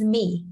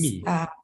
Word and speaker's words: Mie: Yeah, so basically my name is Mie. Yeah, so just Mie.